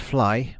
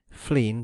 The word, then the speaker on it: Flegne: In times past, Flegne next Sea, pronounced Fly by the natives, Flegne by etymologists, and Flegne by the rare intrusive Cockney, had doubtless been a